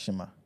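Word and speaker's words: xima: right it's pronounced sorry it's pronounced Shima but it's spelled x i m a x x yeah it's pronounced Shimmer x i m a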